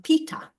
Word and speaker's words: Peta: So I often correct them and say it's actually Mama Peta.